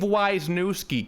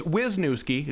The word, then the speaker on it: Wisnoski: a mother effer Dave wisi can't even say my name right it's wisnoski just so you know